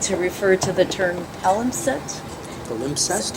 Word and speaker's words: palimpsest: It's one of those where the dictionary says, the other alternative pronunciation is acceptable.